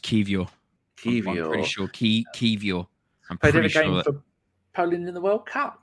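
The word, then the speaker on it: Kiwior: got the Polish center-back Kiora whose name I say wrong who played every game for for put Portugal no the other people it's key it's pronounced kivio Poland in the World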